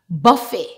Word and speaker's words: buffet: and used in English if the word ends with a T we normally don't pronounce it for example balet Buffet Gourmet Rapport this word